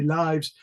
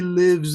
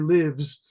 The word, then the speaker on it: lives: correct yourself and say lives they always pronounce it as the verb like he lives in a big house so they say able to live younger lives oh no no it's